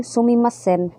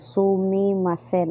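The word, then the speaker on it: すみません: So kanang sumimasen, pwede po na nila i-slang. Pwede po sila moingon sumimasen. Slang na nila, pero ang kuan gid ang spelling gid na sumimasen.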